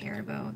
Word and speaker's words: Haribo: Let me say it right, Haribo.